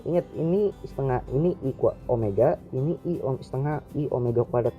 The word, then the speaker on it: Omega: dengar Hai kalau Omega ingat ini bacanya Omega bukan W banyak nih yang salah Omega itu adalah kecepatan